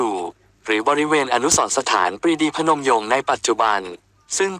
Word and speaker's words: พนม: ประยงค์ เป็น พนมยง นั้น ปรีดี อธิบาย ว่า ใน อดีต ชาว กรุงศรีอยุธยา ออก เสียง เรียก พระ นม ว่า พนม โดย ไม่ มี รอ เรือ ควบ กล้ำ และ เขียน โดย ไม่ ประวิสัญชนี อะ จึง กลาย เป็น พนม ส่วน บุคคล ก็ นิยม